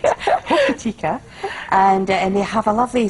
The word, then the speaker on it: Hokitika: I never pronounce it right. Hokitika.